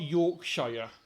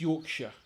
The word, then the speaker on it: Yorkshire: We don't say Shire. It's not Yorkshire. It's Yorkshire.